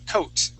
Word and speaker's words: coat: you go so class the O A here in the middle okay makes an o sound we do not pronounce the a okay the word is not Co COA it is only coat coat is usually for